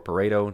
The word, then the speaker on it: Pareto: Interestingly enough, the official rationale, the official explanation is that it's an 80-20, and that is called the Pareto principle, or Pareto, depending on who you pronounce it, P-A-R-E-T-O.